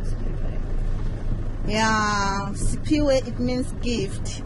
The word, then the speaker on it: Siphiwe: To spell Siphiwe. Yeah. Okay, S-I-P-H-I-W-E.